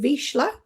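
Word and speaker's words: Vizsla: gorgeous dog called indiana who is a vizzler i think in america you pronounce it vishla and um yeah she's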